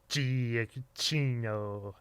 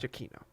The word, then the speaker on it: Giacchino: yeah, because like it started with like just pronouncing it as it is, Giacchino.